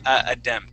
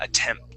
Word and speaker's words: attempt: of the ones where we wouldn't say aemp so yeah attempt attempt with a t yeah